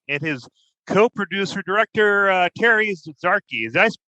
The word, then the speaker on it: Zarchi: a second episode with Jeff Olan of Olan Casting and his co-producer director, Terry Zarchi. Did I pronounce that right, Terry?